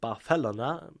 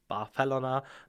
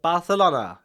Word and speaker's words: Barcelona: that after visiting Barcelona which by the way is pronounced barela by its Dennison barela not Barcelona as you might think after this short